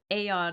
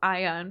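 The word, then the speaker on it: Aeion: We do have a majority of Aeon instead of Ion pronouncers, so well done.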